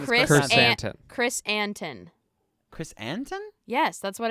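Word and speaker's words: Krrsantan: down phonetically chrysanthemum. because it's idiotic. His name is Chris Chris. An- Chrysantan. Chris Anton.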